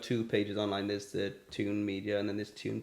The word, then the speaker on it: tiwn: as well that um tune is spelled t TI WN and um it's it's the Welsh version of it like the okay in